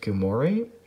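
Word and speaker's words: gilmorei: richardostasia there's richard stasia i believe it's pronounced gumoree and then there's ricardostasia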